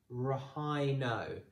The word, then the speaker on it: rhino: The next one, r-i-n-o, rhino. So that H is actually a silent H. So don't pronounce the H.